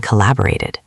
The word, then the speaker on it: collaborated: Here you actually do hear the extra syllable. Listen. Created. It sounds like it at the end. Collaborated. So for these words, make sure you pronounce that final beat clearly.